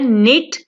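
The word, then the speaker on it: knit: Next है निट, बुनना। निट यहाँ पे के जो है वो साइलेंट होगा, के को हम नहीं पढ़ेंगे लेकिन इसे लिखा जरूर जाएगा, ठीक है।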